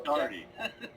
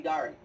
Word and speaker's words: Daughtery: Daughtery? It's, I get it pronounced all different kind of ways, but it's really pronounced like party, only with the D. Okay. So Darty. Yeah, Darty.